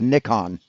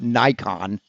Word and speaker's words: Nikon: Yes, it's pronounced Nikon. Because it's a Japanese company, stupid. It's not Nikon.